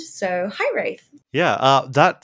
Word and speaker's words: Hiraeth: Yeah, it's actually a Welsh word.